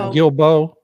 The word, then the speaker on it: Guilbeault: How's his name pronounced again? Is it Guilbeault?